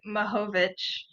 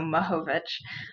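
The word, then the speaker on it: Mihovich: Hi everyone, I'm Mahovich. It's basically like the I is an A, so Mahovich.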